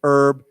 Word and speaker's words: herb: more proper pronunciation or the original pronunciation is with no h we say herb herbal yeah so herbal treatments